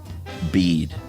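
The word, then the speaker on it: Bede: Anyway, uh, as I am named after him, I can assure you that the pronunciation of his name is the same as Bead.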